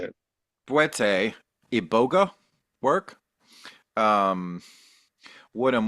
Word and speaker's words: Bwiti: Bwiti? How should I Yeah, say that? Boete is the Bwete. true way to say it. Bwete, Iboga work?